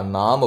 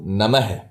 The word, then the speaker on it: नमः: है पीछे वशम भू नमः नम मत बोल देना कई लोग नम बोलते हैं नमः विसर्ग के साथ बोलना है यह इसका सही उच्चारण है ओम रीम रीम सामने